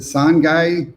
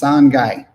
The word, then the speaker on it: Sangay: Somebody says it's pronounced Sangay. Sangay. Oh, gracias. I'm assuming it's Sangay. Sangay? Which syllable has the accent? Oh no, they said soft G. Sanhai. Sanhai.